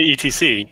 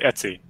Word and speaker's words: etc: See, I say ETC, and a lot of people say Etsy, and there's that one.